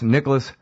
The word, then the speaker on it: Nikolas: Believe it or not, it's spelled exactly like it sounds. N-I-K, no C in Nikolas. Nikolas.